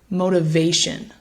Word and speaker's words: motivation: is that primary stress so the word is motivation one more time motivation so we place the stress on that third syllable motivation what you'll notice